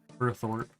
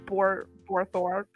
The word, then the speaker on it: Burthorpe: Wait, how do you say it? Burthorpe. Burthorpe. Yeah, I could not say that yesterday. I was saying like Borthorpe.